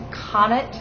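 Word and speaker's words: qananit: don't speak Arabic, but I believe it is pronounced kanat. Something sounds sort of like cannoli, spelled Q-A-N-A-N-I-T.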